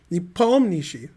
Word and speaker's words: Nepomniachtchi: I thought his name's pronounced Nepom, with the P being Nepom. I've never heard the Nietzsche part. Nepomniachtchi.